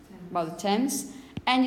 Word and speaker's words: Thames: about Tomas or get to by the river tens by the Thames and it's about this plant time which is